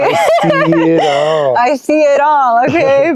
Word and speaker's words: icy.itall: So like I'm so icy. Okay. I see it all.